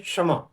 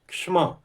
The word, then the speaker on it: क्षमा: तो छ जो है क श हम नहीं बोलते हैं, क श जैसा उच्चारण नहीं होता है, बल्कि उच्चारण क्या होता है? एक ही व्यंजन श, श, क्ष, क्षमा, क्षमा, क्षमा, क स्वर नहीं होता है, क्षमा। तो क्षमा उच्चारण इसका होता है।